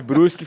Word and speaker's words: Brusque: Brusque com gentileza e se escreve com s mais ou menos se fala quem conhece Brusque fala com x né e a gente